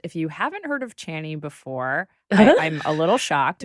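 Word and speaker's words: Chani: so for listeners if you haven't heard of channy before I'm a little shocked but it's spelled c h a n i so there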